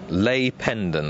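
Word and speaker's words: Lis Pendens: And Lay Pendon, the pronunciation of number 7, I'm reliably informed.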